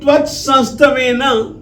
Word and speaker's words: त्वत्संस्तवेन: जिस तरीके से त्वत्, त प्लस व प्लस अ प्लस त, व में अ है, ये इसलिए बतला रहा हूं ताकि जिस समय आप उच्चारण करें तो व में अ आना चाहिए और जो दोनों के त हैं उनके साथ कोई भी स्वर नहीं है।